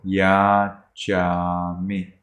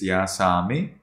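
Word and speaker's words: yācāmi: It's different from Burmese. In Burmese, it is ya sa mi. In Sinhalese, in Sri Lankan language, it is ya cha mi.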